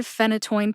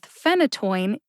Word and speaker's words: phenytoin: is my hope that pairing isotretinoin with phenytoin will help you feel more confident with both pronunciations because if you can say isotretinoin you can say phenytoin the written pronunciation of